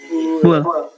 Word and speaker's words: bool: Nulisnya kumaha? BOOL. Oke, bacanya? Bull. Bull. Good.